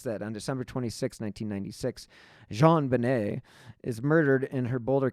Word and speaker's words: JonBenet: John Bennett Ramsey and her name is pronounced in a French style Jean Benet she went the file